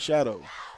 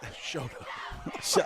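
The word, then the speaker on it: Chouteau: No, I call it Shadow. Shoto. Like you shadow. That's Shoto, man. It's no, it's not shadow. You're saying shadow.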